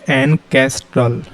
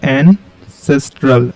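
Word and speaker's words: ancestral: Next जो हमारा word है वो है एनकेस्ट्रल। क्या है, एनकेस्ट्रल। हिंदी में पढ़ेंगे, प्रोनाउंस करेंगे एनसेस्ट्रल, एनसेस्ट्रल, जिसका हिंदी मीनिंग होता है पूर्वजों से संबंधित।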